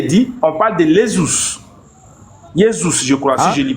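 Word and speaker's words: Ἰησοῦς: Yeszus, je crois si je lis pas si je prononce bien. Yeszus. Voilà. Yesézus. OK. Donc Yzus, voilà. Donc en réalité, c'est Yzouus.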